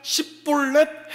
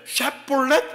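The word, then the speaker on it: Shibboleth: 발음 잘 못하지 않습니까? 예, 이런 것처럼 그러니까 십볼렛 해야 되는데 샷볼렛 하니까 그냥 다 죽은 겁니다.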